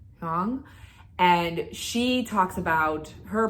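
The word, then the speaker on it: Hương: It's H-U with an accent, O with an accent, and G, Hong.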